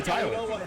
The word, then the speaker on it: Tyler: I've been saying Tyre all day, but it's really Tyler.